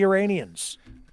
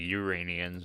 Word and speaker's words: Iranians: right is with the iranians yeah he he mispronounced it entirely he calls it like uranians it's like what here's a clip here